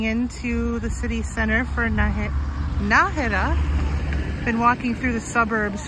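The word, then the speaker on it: Nájera: Well, this answers a question I've been having in my mind as to whether it was Najera or Najera. And I see here there's an accent on the A, so it's Najera.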